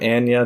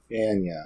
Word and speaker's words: Anya: Skarsgard where she says I am Ana Taylor Joy so ana ana I'm sorry if I said it wrong before I don't remember now which way I was pronouncing it but that's the way we're going all right well tell